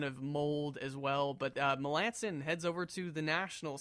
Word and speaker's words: Melancon: Cubs and whatnot melanson they asked people to change how people pronounce his last name right was it was he melon cone I don't know if it was but I've always called him away they know melanson is the correct pronunciation but I could have sworn that like three years ago people were calling a mark melon code Melancon no longer Dale